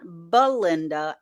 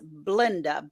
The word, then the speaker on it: Blinda: with Belinda and Chuck it is not Belinda it's blinda b-l-i-n-d-a and Chuck yeah l-i-n-d-a